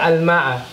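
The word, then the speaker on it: الماء: We know that hamzatul wasl is not pronounced in between speech. In between your speech is not going to be pronounced. So it's as though this doesn't exist.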